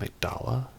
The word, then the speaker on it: amygdala: a true amygdala now as for the pronouncation I'm going to say amygdala because it's also a part of the brain I know that patches he says I'm ik dalla so maybe that's what it's supposed to be but I'm going